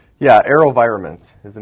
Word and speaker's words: AeroVironment: companies with you to this table today um Aro enironment Incorporated avav the ticker symbol did I pronounce that right yeah aerovironment is the name of the company I guess